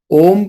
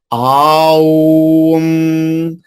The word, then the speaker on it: ओम: तो कुछ लोग इसको ऐसे भी चांट करते, अ उ अम औम आऊम आऊम, ये गलत है। This is नॉट हाउ it should be pronounce, ये इस तरह से चांट नहीं होना चाहिए। अगर आपको ओम का उच्चारण करता है, ओम का जप करना है, ओम ओम ओम, इस तरह से करना है।